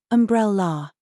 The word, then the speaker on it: umbrella: agreement pronunciation tips umbrella stress the second syllable umbrella abandoned pronounce the second